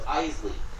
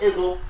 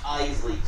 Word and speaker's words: Iseli: It's Iseli. Not Izzle. Not Iseli. Iseli. 2 syllables.